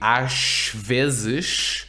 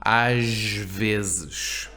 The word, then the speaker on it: às vezes: And you would think, well, S at the end of a syllable, it's a 1-syllable word, ash. So you'd think it would be às vezes, but no, às vezes. Às vezes. There's that Z. The Z actually sounds like a Z, which, you know,